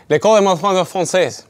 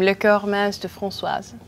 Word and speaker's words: Les Corps Mince De Francoise: L'école est ma française. Tell us the name of your band, because I just butchered that. We have the French name, Le Corps Mince De Francoise.